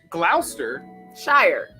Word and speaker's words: Gloucestershire: or you can go below sister Shire Gloucestershire Glouster Shire but that then you're negating that deed it's